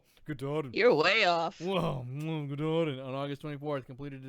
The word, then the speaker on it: Katahdin: How do you pronounce that? Katahdin? Katahdin. You're way off. Whoa, Katahdin.